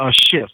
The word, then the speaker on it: Schiff: Mueller and Mueller, and Schiff was kind of a little bit of a laughter, because it's kind of like Mueller looked at Schiff, and that's how you say his name, Adam Schiff, or what I think.